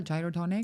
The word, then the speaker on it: Gyrotonic: But how this discipline the gyroonic or am I pronouncing it well? Gyotonic.